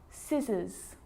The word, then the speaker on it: scissors: subtle debt and doubt now the letter c can cause a few problems because it's often silent after the letter s like in these very common examples they're quite tricky muscle muscle scissors fascinate scene scenario muscle